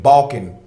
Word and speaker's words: Balkan: are the ban B excuse me the Balkans I'm mispronouncing they name the ban people b a l k a n balkon and the Balan cosmology